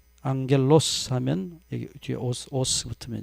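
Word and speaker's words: ἄγγελος: 또 앙겔이라고 읽지 않고 앵글로색손족들 발음하는 습관을 따라서 angel 또 그렇게 읽어요. 그냥 라틴어식으로 앙겔 그러면 될 거 아니에요? 말을 좀 어떻게 이상하게 이게 변형시켜서 말을 해요. 앙겔로스 하면 여기 뒤에 오스 붙으면 이제 천사입니다.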